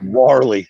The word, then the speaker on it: Warley: Let me tell you something, Walry. How you pronounce that motherfucker's first name? Warley Alves, yeah. Warley.